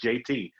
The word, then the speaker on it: Jaitee: at I am Jaitee, which is pronounced JT.